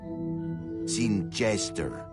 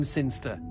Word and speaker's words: Sinister: Sinister. Sinster. What? It's pronounced Sinster. How do you know? My cousin's from Sinster.